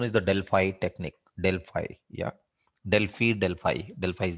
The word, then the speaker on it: Delphi: You can call Delphi, but the widely used pronunciation is the Delphi technique.